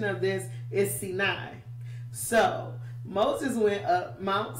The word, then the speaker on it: Sinai: It looked like to us it should be Sinai, but it's actually Sinai, right?